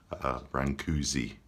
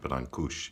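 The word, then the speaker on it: Brâncuși: the most famous artists sculptors from Romania's Constantin Brancusi francuzzi but Berlin Koosh is how we pronounce his name he was born in a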